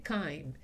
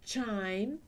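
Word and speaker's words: chyme: veis se ha confundido se dice kaim si decimos chain chain que se escribe exactamente igual significa también hacer sonar una campana eso es porque no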